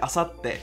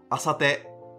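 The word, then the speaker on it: あさって: the word for example the word assate which means the day after tomorrow which without the little two would sound like asate so do you hear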